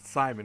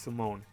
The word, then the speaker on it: Simon: it's not print out like some people perhaps Simon it's Simone you know you don't pronounce it with the IQ pronounced with the